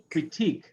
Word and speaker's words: critique: Stress ick, technique, critique. These are French words. That's why we stress those syllables.